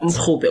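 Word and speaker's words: umrhubhe: Umrube.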